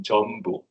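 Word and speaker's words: Jeonbuk: I'm from, actually it is pronounced in Jeonbu. Okay. Jeonbu National University.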